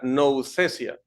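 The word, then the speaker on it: nouthesia: la palabra griega noufesia ahí la letra t h se pronuncia como una Z así que sería no obsesia esta palabra tiene una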